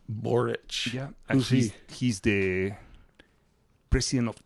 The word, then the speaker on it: Boric: totally totally I I like this guy called borich well I like spell that can you spell that b o r i c borich yeah he's the president of Chile right now